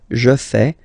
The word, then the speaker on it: fais: form, so the same form that you will pronounce. Okay, so you get je fais, tu fais, il fait, and then elle fait.